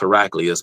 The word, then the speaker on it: Heraclius: I think his name is properly pronounced Heraclius, but tomato, tomato.